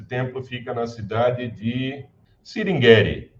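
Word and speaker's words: Sringeri: fica na cidade de singeri singeri cingria acho que é a pronúncia mais correta então você tem essas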